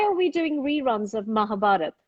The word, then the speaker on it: Mahabharata: we doing reruns of mahabharata or mahabharata have i pronounced it well i don't even know no it's just mahabharata people do call it mahabharata um i i think